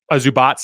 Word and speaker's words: Zubac: Here, they're going to actually run through Zubac in the post. Zubats, I should say. I'm trying to learn how to pronounce these guys better.